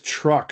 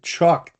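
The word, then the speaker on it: Chuuk: Um where's Truck? Remember the was there was a the battle of Yeah. Truck the island. Yeah. Truck. Yeah. Truck's over here. Truck. Oh, Chuck.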